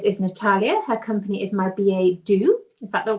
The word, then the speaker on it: My Billet Doux: first time this is natalia her company is my ba do is that the correct way to pronounce yeah i've had some practice i must